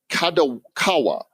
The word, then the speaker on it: Kadokawa: to facilitate this that's taking place Dentsu in kadokawa that's how you pronounce those those organizations here are wanting to